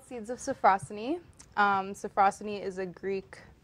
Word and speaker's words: Sophrosyne: awesome so tell us about this book and pronounce that title firm um so it's called seeds of safrussani so frosty is a greek term and philosophy